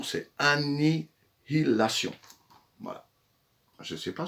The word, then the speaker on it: Annihilation: Il ne faut pas se tromper dans la prononciation, c'est Annihilation.